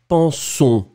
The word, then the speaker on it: pensons: So this N, because it's not really pronounced, you don't really pronounce it, but still I can feel it, which is really strange. So it means that it should go more strongly in your nose.